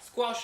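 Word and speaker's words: squash: कोई फुटबॉल है और फुटबॉल पे आपने कोई वजन डाल दिया तो क्या होगा, स्क्वॉश हो जाएगा। तो स्क्वॉश करके आप प्रोनाउंस इसे करेंगे।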